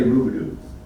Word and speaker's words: Rubidoux: the old trail and we'd say Rubidoux down here everybody says Riverdale everywhere else same lunch it's Ruby and when you see it spelled phonetically back then it's spelled r-u-b-i-d-u and there were